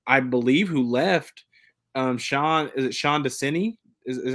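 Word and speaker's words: Desai: the only person I believe who left, Sean Desini, is how you pronounce it, is now the defensive coordinator in Arizona.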